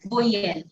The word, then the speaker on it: voyelle: And vowel is pronounced as voyelle.